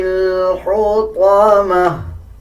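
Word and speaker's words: الحطمة: گا۔ کلا لینبذن فی الحطمہ، طا کو پر یعنی موٹا پڑھا جائے گا۔ کلا لینبذن فی الحطمہ،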